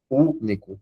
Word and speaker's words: Único: Único, esse U é mais forte.